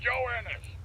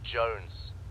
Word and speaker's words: Johannes: Private Joe Ennis. Joe Ennis. Joe Ennis, where the hell are you? Is that his real for the name? millionth time, my name is pronounced Jones. Jones.